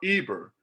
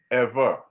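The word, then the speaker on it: עבר: up eber eber and if you look where it says pronunciation it's it it does a v instead of a b you push that button where it's where you can hear the pronunciation it'll say ever if now if the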